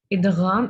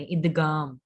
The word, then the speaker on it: ادغام: इदम में गन है आपने कोशिश करनी है कि आप इसको न ही प्रोनाउंस करें गाफ नहीं पढ़े इगाम ठीक है ऐसे नहीं न यना मोटा होता है तो फिर कोशिश करें कि आप इसम भी इसको मोटा ही पढ़े इदम ओके जी रूल देखें